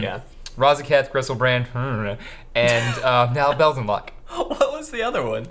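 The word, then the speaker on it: Belzenlok: I feel like now I'm saying it wrong, but I'm pretty sure it's Bells and Lock. Bells and Lock. I'm like almost positive.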